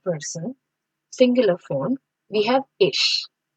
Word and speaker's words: ich: So in this first person singular form we have ish. I have written the pronunciation here. It's ish.